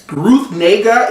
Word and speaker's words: Ruth Negga: Ruth Negga, if I'm not mistaken, that's how you say her name.